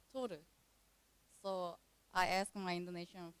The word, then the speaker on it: Toru: But in Korean, it's pronounced like Toru.